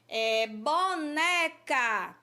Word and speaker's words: boneca: Boneca é uma palavra paroxítona. Desculpa, gente, uma palavra paroxítona. Por quê? A sílaba né, a gente pronuncia com mais tonicidade.